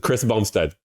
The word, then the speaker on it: Chris Bumstead: not his name bu said bum said it's Chris Bumstead that's hilarious Chris Bumstead that's still hilarious Chris Bumstead Chris Bumstead okay